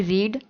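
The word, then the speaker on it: read: तो इसको बोलते हैं, वर्ब की फर्स्ट फॉर्म को बोलेंगे रीड और वर्ब की सेकंड फॉर्म को बोलते हैं रेड और थर्ड फॉर्म को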